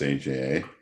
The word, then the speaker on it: AJA: go all right so aja is pronounced aja you can say aha you can say everything else you want that's actually named after